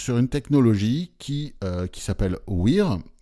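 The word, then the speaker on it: WHEERE: une technologie qui s'appelle WEAR, ça s'écrit comme le mot wear en anglais, ou W-H-E-R-E, sauf qu'il y a deux E au début, W-H-E-E-R-E.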